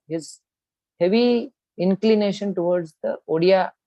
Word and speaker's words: Odia: Gita Govinda itself, we find internal evidence of his heavy inclination towards the Odia pronunciation.